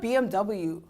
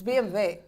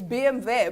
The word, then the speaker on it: BMW: Even, you can't, it's not BMW, it's BMW. oh, Yes, because it's German. you see? It's BMW. But then you can't go in and be like, no, I drive a BMW.